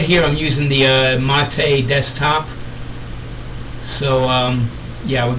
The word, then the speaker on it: MATE: originally started this project it's actually correctly uh pronounced mate for those who don't know mate is a drink from south america it's a beverage actually